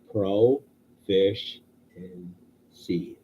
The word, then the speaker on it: proficiency: I tried to pronounce it 100 times, and somebody said just broke it down and said pro fish and sea. I'm like, oh, okay, that's how you pronounce that.